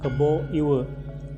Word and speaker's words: Kebo Iwa: Kita beralih ke Nusantara, yaitu cerita Kebo Iwe. Kalau nulisnya Kebo Iwa ya, tapi kalau Bali kan dibacanya A itu jadi E. Jadi untuk seterusnya akan menyebutnya dengan Kebo Iwe.